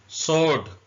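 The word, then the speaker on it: sword: देना इसमें ड साट सोर्ड डब्लू साइलेंट है उर्दू में ऐसे लिखेंगे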